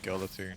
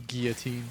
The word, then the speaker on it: guillotine: I want me to use guatine. Okay. Or guillotine to say it correctly.